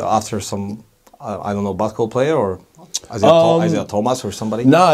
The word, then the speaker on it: Isaiah: So the correct pronunciation is? Isaiah.